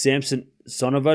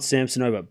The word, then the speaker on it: Samsonova: I think it's Samsonova, not Samsonova. By the way, it's because the TV's saying that. You can say it either way.